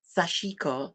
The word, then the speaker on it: sashiko: Um, there's a Japanese technique called, let me pronounce this properly, sashiko, which is white on blue.